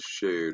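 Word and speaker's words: שֵׁד: pronunciation so when we're looking here in the pronunciation it says shade right there so and we go down it's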